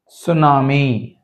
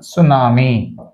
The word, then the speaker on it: tsunami: సునామీ, సునామీ, tea silent. Yes, ఎస్ we should start with S, we should start. Tsunami.